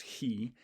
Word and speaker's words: chi: uh and this is the greek letter which actually in the old days was pronounced he uh but uh so it's